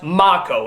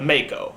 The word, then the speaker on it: Mako: Everybody's been telling me that his name is pronounced Mako instead of Mako.